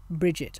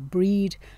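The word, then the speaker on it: Brigid: is a celebration of the goddess bridget or bridget or breed there are a number of different pronunciations of this celtic goddess's name so her traditions go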